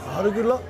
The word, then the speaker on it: arugula: Oh, arugula? Arugula가 뭔지 아시는지 모르겠지만 저게 뭐냐면요. 좋아하시는 거 있죠? 루꼴라라고. 루꼴라가 원래 이탈리아 말로 루꼴라라고 그러고 영어로는 아르귤라라고 읽습니다. 프랑스에서는 로켓이라고 합니다.